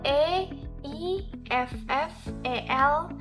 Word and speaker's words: Eiffel: Ejaan nama saya itu E-I-F-F-E-L, sedangkan untuk pengucapannya Eiffel.